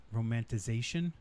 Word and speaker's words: romanticization: The idea of not the good old days, but the romanticization. No, romanticization. I think the extra syllable was correct.